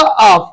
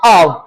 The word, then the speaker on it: of: ये बोलता है आपका ऑफ। क्या होता है? ऑफ होता है बच्चे। और ये होता है आपका आव, है ना? ज्यादातर प्रोनाउंसिएशन इसकी गलत कर देते हैं, लेकिन आव बोलते हैं।